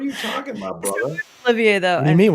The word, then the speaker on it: Olivier: of America, Great Britain, so I refuse to pronounce it properly. What are you talking about, brother? Olivier, though. What do you mean, what am I talking about? He's Oliver to me, baby.